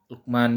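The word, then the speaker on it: لقمان: penulisan Luqman dan Ishaq di sini awalnya dalam imlai itu dia ada alifnya tetapi dalam penulisan dalam penulisannya ia menjadi dihilangkan alifnya tapi tetap dibaca panjang juga Ishaq juga Lukman juga dibacanya nah ini ada syaratnya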